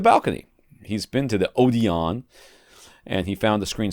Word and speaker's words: Odeon: what did I say? Odin? You said Odin. Whatever. It's Odeon. Odeon.